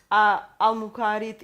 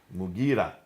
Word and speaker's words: Mughira: Basra, Amir ibn Abdul Quyas, sorry for the pronunciation. Qais. In Syria, Al-Muqarid ibn Shuba. Mughira ibn Shuba.